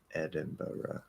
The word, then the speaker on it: Edinburgh: americans say it but i'm positive the british say it as edinboro yeah they um obviously